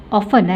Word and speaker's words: often: Often jangan sebutkan T ya, silent T. Often tidak bunyi. Kita sekarang suka sebut often. Salah ya. Bukan often tetapi often. Often ya. Jangan bunyikan T, T silent T ya.